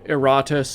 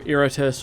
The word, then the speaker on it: Iratus: up, and there are there are different ways to pronounce it. There's Iratus, there is Iratus, which is perhaps how you would pronounce it if it was Latin, which it is a Latin word meaning like angry or rageful. So it might be Iratus.